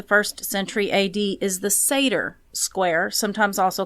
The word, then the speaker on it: Sator: century AD is the Satyr square, sometimes also called the Rhodes square. So Satyr is spelled Sator, and then Rhodes is the same spelled backwards.